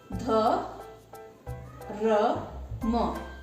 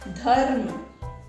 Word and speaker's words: धर्म: जैसे यहाँ पे उदाहरण में देखिए, ध र म। तो इसको जब हम सही पढ़ेंगे तो पहले ध, फिर इस रेफ का उच्चारण करेंगे, फिर उस अक्षर का उच्चारण करेंगे, उस वर्ण का उच्चारण करेंगे जिसपे ये लगा है।